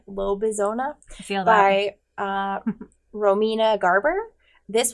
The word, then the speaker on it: Lobezona: tell you about is lobezona i don't know if i'm saying it right but it kind of looks like arizona but not so that's how i'm pronouncing it low bizona by uh romina garber